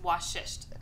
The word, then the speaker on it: Vashisht: The V is pronounced like a W. So, it's W shish.